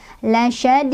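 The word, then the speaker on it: لَشَدِيدٌ: Lasyadid. Dan di ujungnya dalnya punya hukum qalqalah kubro atau qalqalah besar karena dalnya sukunnya karena berhenti. Tadinya dhammah tanwin karena berhenti jadi sukun ya. Jadi pantulannya besar.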